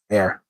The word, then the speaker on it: heir: God has promised me an heir, or an heir. Well, heir, pretty much. H is silent.